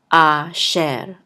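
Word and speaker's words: אֲשֶׁר: says and this resh will close out the syllable, so this will say sher. Asher, asher.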